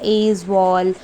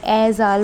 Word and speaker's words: Aizawl: नाउ अब इसकी कैपिटल है एज़ाल। अब इसको बहुत तरीके से बोलते हैं, एज़वाल, कहीं एज़ाल बोलते हैं, बट इसकी स्पेलिंग आप ध्यान रखना, AIZAWL।